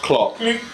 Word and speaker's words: Klopp: You're comparing Klopp, by the way, it's pronounced Klopp.